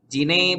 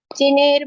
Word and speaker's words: जिने: जिनेर भक्ति नहीं, आप भी वैसे ही पढ़ रहे हो, जिनेर नहीं, जिने।